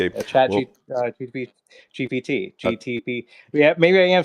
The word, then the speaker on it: GPT: You know, uh, you know, I didn't I didn't say, you know, chat, you know, GTP told me it's GPT.